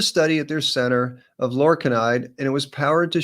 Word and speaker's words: lorcainide: And it's another historical study that I discovered, thanks to you, Lewis, for putting me onto this talk, of lorcainide, which rhymes with enconide.